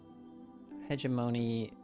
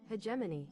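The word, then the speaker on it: hegemony: You say hegeimony. Pronounce. Play it. Hegemany.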